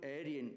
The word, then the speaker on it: Arya: are not familiar with the Sanskrit word is Arya alien is mongrelized bastardized anglicized attempt to pronounce the word area so the word area